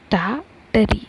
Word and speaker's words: Tartary: you pronounce it as ta teri the first r is silent okay so over here